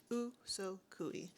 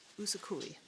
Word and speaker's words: Usogui: Usogui. Usogui. That's what it's called. That's how it's pronounced.